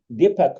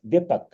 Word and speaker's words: Deepak: Allow me to take, first of all, Deepak mentioned, I think that I pronunciate the name right, Deepak, D-E-E-P-A-K, Deepak Gilot.